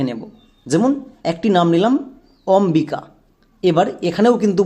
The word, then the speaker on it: অম্বিকা: উচ্চারণ করো অমবিকা। অমবিকা। এখানে কিন্তু বইয়ের উচ্চারণ আসছে। সো বইয়ের উচ্চারণ যদি হয় তাহলে বো সাইলেন্ট থাকে না।